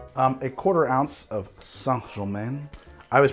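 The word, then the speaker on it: St-Germain: simple syrup um a quarter ounce of sangjomin i always pronounce it saint germain i just recently learned that it's pronounced sangha men song that's what i've been told the compt de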